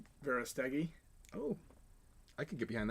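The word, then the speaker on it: Verástegui: Kevin Verastuggi. I probably just completely... How do you say his last name? Verastegi.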